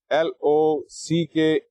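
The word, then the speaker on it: Locke: other great philosopher John Lock remember the spellings of his name l o c k e although there is an e at the end that e is silent so it's John Lock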